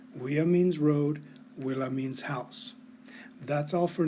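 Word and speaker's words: villa: word for house which is right means road willa means house that's all for now we'll come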